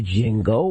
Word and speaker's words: Django: Now, actress in the Django. Well, more comes out. Django, I think it's Django.